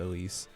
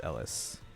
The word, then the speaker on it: Elise: Yeah, I always keep I have to keep reminding myself to pronounce it Elise, because I'm pretty sure it's not how the anime pronounces it, which is Ellis. Because again, that's how a lot of people translated the original name.